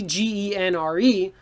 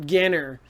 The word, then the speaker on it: genre: science fiction so if you hear your teacher say genre but you see g-e-n-r-e don't say my favorite ganner it's my favorite genre is science fiction okay let's keep going